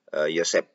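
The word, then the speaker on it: Joseph: adalah Bobby Josep ya Bobby Josep tulisannya ya tapi j-nya itu bacanya y ya Bob e Yosep ya ya benar Bobi Yosep kata kabiumas Polda Metro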